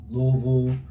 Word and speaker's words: Louisville: state louisville game with me um we took louisville first half louisville for the game that is correct pronunciation of louisville um they got sick jerseys